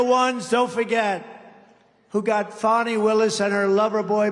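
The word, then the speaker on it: Fani: It's called Fanny. You have to pronounce Fonnie. I don't know how she gets She should add a little U in there someplace if she wants people to call her.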